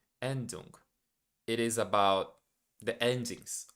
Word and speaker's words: Endung: I don't know how to pronounce that. Let me check so I won't say it wrong. Yeah, Endung. Endung.